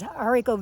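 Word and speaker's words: haricot: green beans they're they're um smaller green beans hariko there it's pronounced but she's got fields and fields of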